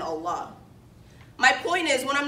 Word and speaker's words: Allah: our new units hmm did you need help pronouncing the words Quran had and Allah by the way it's Quran Hajj and Allah my point is when